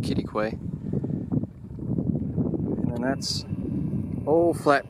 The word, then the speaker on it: Quitaque: Quitaque, pronounced Quitaque.